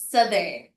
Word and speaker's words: southern: Yung s alam ko yung spelling non southern but the pronunciation is southern such as north northern.